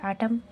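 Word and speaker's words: autumn: तो एम को हम जो है साइलेंट रखेंगे। तो हमें इसे पढ़ना है आटम।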